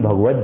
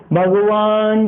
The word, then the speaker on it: भगवत: आती है करोतु शांतिं भगवत जनेन्द्रः। यहाँ लोग बोलते हैं करोतु शांति भगवान जनेन्द्रम, लय में संगीतकारी बोल जाते हैं करोतु शांतिं भगवान जनेन्द्रम, अनर्थ हो गया, उल्टा हो गया बिल्कुल।